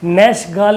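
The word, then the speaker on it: Nachtegall: ये नखटे गाल लिखा, नैशगाल इसको प्रोनाउंस करिएगा, ठीक है, नैशगाल।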